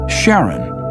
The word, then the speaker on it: Charon: in Greek mythology but preferred to pronounce it Charon more like his wife's name Charlene from the motions of